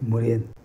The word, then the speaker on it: Morin: Okay, first, Murian. Did I say correct? You said it right, yes. Morin. Morin. Okay, Morin. I think you already answered